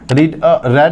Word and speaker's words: read: ध्यान रखना स्पेलिंग में ये रीड है, रीड क्या करते हैं मतलब प्रोनाउंसिएशन क्या करते हैं इसका, रेड, बिकॉज ऑफ पास्ट में, ये सिंपल पास्ट में, ठीक है।